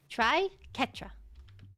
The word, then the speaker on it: Triquetra: The Q and the U are hard. So it says Triquetra. Never mind. Ketra. Try Ketra.